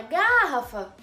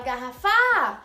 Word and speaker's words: garrafa: Tá vendo que você se prolonga na ra, na sílaba ra? Você não fala garrafa, você não fala garrafá, você fala garrafa. Então você prolonga o ra.